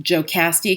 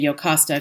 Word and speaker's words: Jocasta: Sometimes her name is pronounced Jocasti because it has a J on it, but in the ancient languages that would be an I. So you might hear Jocasti, or as I usually say Jocasta because I'm thinking about Latin and Greek.